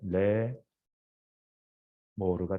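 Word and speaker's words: לאמר: 알렙과 이 에 사운드가 결합하면서 마치 예, 마치 뭐 순장문 비슷하게 바뀌어 버려요. 그러면서 여기가 묵음이 되고, 그래서 결국에는 레 모르가 된 거예요. 근데 이 형태가 이렇게 복잡한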